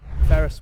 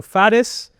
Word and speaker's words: Faris: Because I we had a conversation you had you can go Faris, Faris, It's just pronunciation in the end. You know, American Faris, Yeah. Arabic Faris. Faris. With a big F but fat F Far.